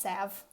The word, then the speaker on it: salve: so I wouldn't look silly and apparently it's pronounced salve so I've been saying it wrong for so